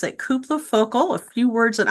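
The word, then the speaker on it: Cúpla: So Koopla, now I know how to pronounce it. Koopla Focal.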